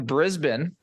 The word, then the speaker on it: Brisbane: we did I can't remember the first one Brisbane is how it's pronounced yep that was the first one then